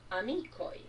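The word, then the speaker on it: amikoj: Basta colocar aquela letrinha que em português se pronuncia J, em Esperanto ela se pronuncia I. É um I breve. Amico. Amicoi.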